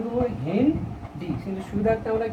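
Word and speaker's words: HindII: হেন ডি, কিন্তু সুবিধার্থে আমরা কি উচ্চারণ করি? হেন্ড 2, এবং 2 হলো কি?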